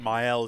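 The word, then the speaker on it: Maelle: Myel is how you say her name.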